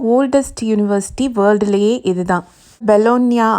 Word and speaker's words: Bologna: பெலோனியா அப்படின்னு தான் சொல்லணும். எப்போவுமே லாட்டினில் GNA அப்படின்னு ஒரு வேர்டு முடிஞ்சிச்சுன்னா அதை NYA அந்த மாதிரி ப்ரொனவுன்ஸ் பண்ணணும்.